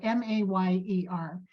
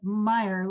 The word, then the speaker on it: Mayer: Mayer, and it's spelled M-A-Y-E-R. And I love how she kind of makes a little joke, and she says, my name is Mayer, like mayor, not like Meyer, like the hot dog.